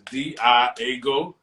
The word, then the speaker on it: Diago: yourself all right uh my name is Diago pronounced just like that d-i-a-go uh Rob from Broward